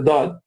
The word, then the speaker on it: ض: The dad is pronounced from one or both sides of the tongue.